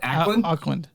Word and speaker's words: Auckland: in it's in Ackland is that how I pronounce it akland Ackland Auckland Ackland so it's Auckland New Zealand called Dice and Fork